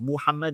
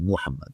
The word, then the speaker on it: Muhammad: And we know it's pronounced Muhammad because he writes in Syriac MW. Mu. Okay? So not Mahmad, Muhammad.